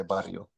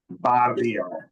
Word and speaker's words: barrio: Um, yeah, Josh, you gotta roll your R when you say barrio. barrio, barrio.